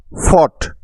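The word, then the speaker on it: fought: বট শব্দটা হলো বাই এর পাস্ট ফর্ম তারপর ফট এফ ও ইউ জি এইচ টি ফট এফ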